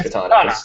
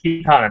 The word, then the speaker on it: Kitana: say her name is Katana it's Kitana that's her name yeah Kitana is her name yeah so yeah I